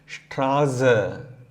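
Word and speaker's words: Straße: அதே மாதிரி இந்த ஸ்பெஷல் கேரக்டர் எசெட் வந்து நம்ம எப்படி 2 எஸ் வந்து நம்ம என்ன ப்ரொனவுன்ஸ் பண்ணுவோமோ அதே மாதிரி ப்ரொனவுன்ஸ் பண்ணிட்டு போயிட்டே இருக்கலாம். ஸ்ட்ராஸ, க்ரோஸ், ஸ்ட்ராஸ, க்ரோஸ்.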